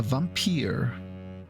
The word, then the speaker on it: Vampyr: yeah today we're playing a vampire that's at least how it's said to be pronounced a game playing in